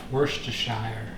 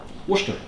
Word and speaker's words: Worcestershire: Worcestershire sauce. He would be incorrect. It's spelt Worcestershire sauce, but it's pronounced Worcester sauce. Worcester.